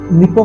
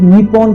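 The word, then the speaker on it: 日本: अगर आप निप्पो को इंग्लिश में लिखा देखोगे तो इसे निप्पॉन करके प्रोनाउंस करोगे, लेकिन इसकी असली प्रोनाउंसिएशन निप्पो है, जो कि जापानीज में होती है।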